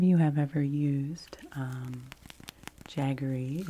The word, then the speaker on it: jaggery: if any of you have ever used um jaggery it's spelled j a g g e r y